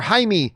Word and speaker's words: Jaime: phantom is actually a jamie reyes uh lead blue beetle movie or jaime i believe is the right pronunciation blue beetle movie because